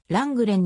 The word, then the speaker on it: Lenglen: ているせーの本国での発音はラングレンに近いプレイ中のランランスザンヌランランは幼少